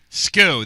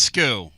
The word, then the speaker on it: SKU: Sku that's skew.